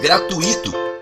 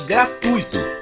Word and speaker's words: gratuito: É muito comum ouvirmos gratuito com o acento tônico no i, em vez de gratuito com acento tônico no u, como orientam as normas urbanas de prestígio.